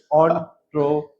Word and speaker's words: entrepreneur: Entrepreneur. You mean the pronunciation?